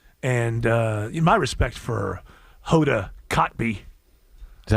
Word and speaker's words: Kotb: But I have too much respect for women, and my respect for Hoda Kotb. Is that how you say it? I don't know. I think it's coffee. No, Kotb. Oh, Kotb.